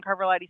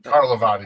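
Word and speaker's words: Carlivati: Ron Carvalati's stuff is basically done. I mispronounced his name. Carlavati.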